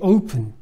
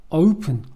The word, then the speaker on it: open: The open. Open. Open이라고 읽으시면 일본식 발음입니다. Open. 이렇게 발음해야겠죠. Open.